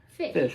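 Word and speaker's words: Phish: of dad's favorite bands is called fish but it's not spelled with an F it's spelled with a p a pH isn't that weird yeah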